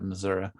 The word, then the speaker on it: Missouri: You have to say it like that, Missouri.